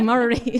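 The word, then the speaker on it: Murarrie: Now, forgive me if I pronounce that wrong. I've only been here 6 months. Murari. Murari, there you go, Murari, thank you.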